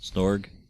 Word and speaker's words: Snorg: Snorg. Did I say it wrong? He said snog, which means making out in British slang. Okay. Yeah, I missed the R.